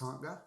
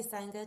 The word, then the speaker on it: Sangha: And it's pronounced Sangha? Yeah. But but I'm happy with, if people say Sangha too, it's either or. It's however you want it to be.